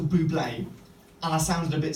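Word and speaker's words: Bublé: least potential so okay on this occasion I said Michael bubble and it was actually Michael Buble and I sounded a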